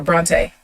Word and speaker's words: Bronte: pronounce your name yes it said like the author Bronte like Emily Charlotte Bronte the brontes yeah it's not where my name came from but that is absolutely how you pronounce it thank you for asking